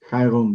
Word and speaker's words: Chiron: to me on and the pronunciation is Chiron, right? Kyon. Yeah. Chiron, right?